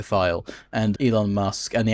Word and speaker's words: Thiel: now, like Peter Thiel, I mean it's pronounced Peter Thiel, and Elon Musk, and the Afrikaners who claimed asylum in the States who now fucking hate it.